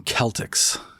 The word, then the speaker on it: Celtics: are they weird and the Boston Celtics Boston Celtics Kayla sorry that's how you pronounce it correctly I'm I a game